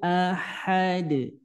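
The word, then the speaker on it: أحد: huallahu qulhuwallahu Ahad hu ahad ini ha keluarnya dari tengah tenggorokan ha ha jangan sampai tertukar dengan ha yang kayak gini ahad ahad enggak ya tapi Ahad Nah itu ya kemudian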